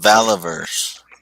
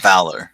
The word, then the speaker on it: Valaverse: But yeah, that No, it's pronounced Valaverse. Common misconception. Oh, okay. Yeah, not Valor.